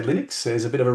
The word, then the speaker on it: Linux: A lot of people say Linux because they pronounce it Linus, but my preference, he pronounces it Linus, therefore I say Linux.